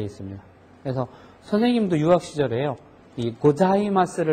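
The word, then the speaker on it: ございます: 사 이렇게 발음이 벌어지는데 자 발음은 혓바닥이 위 붙어야지 됩니다 사가 아니고 자 해서 혀가 붙었다가 떨어지는데 자 발음을 하는 발음하고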